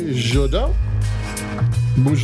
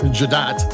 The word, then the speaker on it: Jadot: jodo Bay Villages 2020 you might know it better as Lou jat which is how I used to spell it until I pushed the button on their website and they pronounced the name for Jad so it's a b